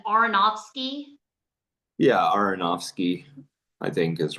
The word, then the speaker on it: Aronofsky: Can you remind me how to pronounce the director's last name? Aronofsky? Yeah, Aronofsky, I think is right.